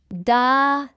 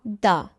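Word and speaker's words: dağ: It is used after a vowel to make them sound longer.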